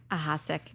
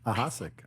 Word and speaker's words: Ahasic: we have a special guest today um aask is how do you pronounce it aask aask okay you were right sick okay sick dude